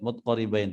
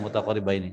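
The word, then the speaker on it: متقاربين: sifati ikhtalafa yulaqaba ini kalau di riwayat di dalam banyak riwayat mutqaribain, tapi di sini bacanya mutaqaribaini ya.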